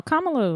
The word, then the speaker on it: Kamala: This was before the election, but I'm going to say her name wrong. Kamala? No, Kamala was right. All right, Kamala.